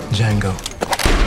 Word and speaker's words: Django: What's your name? Django. D is silent.